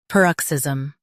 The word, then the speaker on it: paroxysm: US says per, UK par. Emphasize ox.